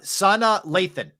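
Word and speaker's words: Sanaa Lathan: years old today uh Sana Lathan I believe that's correct pronunciation excellent actresses tonight Lathan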